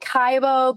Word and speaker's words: Kibo: And um I call it Kaibbo, but I've told KBO is probably the proper pronunciation, but somehow I keep saying Kaibbo.